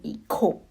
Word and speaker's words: hijo: El hijo, meaning son. La hija. In Spanish, JA is pronounced as ka, meaning hijo. Hija. Remember, in the previous class, you must have learned that H is always silent.